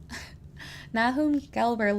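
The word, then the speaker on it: Nahum Gelber: nakum gber law Institute oh how would you pronounce that nahom nahom galber law law library at Migel University in Montreal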